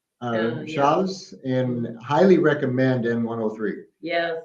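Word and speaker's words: Chaves: we took the slow Road from there to Chavez shavez and highly recommend n103 yes it's great Road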